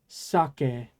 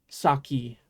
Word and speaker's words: sake: it's pronounced saki um the alcohol in Japan is sake by the way not saki I know people pronounce it saki in English but alcohol is sake anyway okay uh last